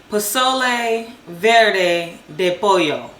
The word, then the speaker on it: pozole verde de pollo: Well, we're making how you say it? Pozole verde de pollo.